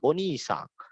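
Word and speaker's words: お兄さん: Ya, kalau kakak laki-laki orang lain disebut onisang. Ya, onisang. Ya, onisang. Nah, untuk pelafalannya onisang di ni ke i-nya itu panjang tapi agak turun nadanya.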